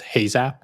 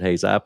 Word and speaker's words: Heyzap: And that one was Heyzap? Is that how you pronounce it? Yeah, okay. That was Heyzap, which we did from like basically end of 2008 to when we sold it in 2016.